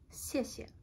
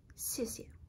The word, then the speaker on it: 谢谢: like the anglicization, but it's pronounced 谢谢. And so it's a bit sharp, it goes down a little.